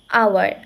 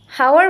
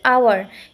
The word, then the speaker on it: hour: এখানে এইচটা সাইলেন্ট আছে আমাদের, তাই এটার উচ্চারণ হচ্ছে এর মতো করে, এইচের মতো না। হাওয়ার বলতেছি না, আমরা বলতেছি আওয়ার, এর মতো উচ্চারিত হচ্ছে,